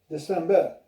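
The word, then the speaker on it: desember: September, October, November, December. So just remember, in the months, the R's are left out at the end of those months, except for January, February.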